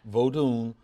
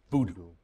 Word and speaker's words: Vodun: Vodun, which people say here, voodoo. Right, Vodun. V-O-D-U-N is the way we spell it, right?